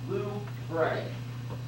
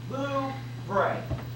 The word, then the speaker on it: Louvre: It's pronounced Louvre. Louvre.